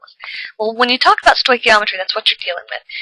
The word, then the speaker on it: stoichiometry: half of it well when you talk about stoichiometry that's what you're dealing with it's Greek for measuring element so it's pronounced stoichiometry stoichiometry say that three times real fast it's defined